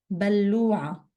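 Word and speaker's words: بلّوعة: المجاري water drain بلوعة double لام بلوعة بلوعة toilet flush and that's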